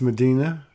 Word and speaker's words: Medyhne: Yeah, your name is pronounced Medina.